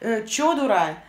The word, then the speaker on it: Чодура: Чодура Владимировна. Конечно, когда с нормальной, адекватной головой, когда ты уже не в спешке это произносишь, ты понимаешь, что ударение в этом имени идет на А, Чодура.